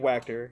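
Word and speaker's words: Wachter: or by my guy Dave whacker yeah rhymes with tractor he says that um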